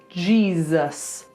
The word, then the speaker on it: Jesus: Then Z, a voiced S, Z, more like a Z. G, Z, us, like us together with an unvoiced S. So the whole thing, Jesus.